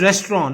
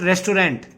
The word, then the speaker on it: restaurant: It is pronounced as restaurant, not restaurant. It's a French word.